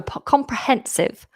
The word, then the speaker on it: comprehensive: Oh, comprehensive. Comprehensive. Comprehensive. Comprehensive. Comprehensive. Four syllables.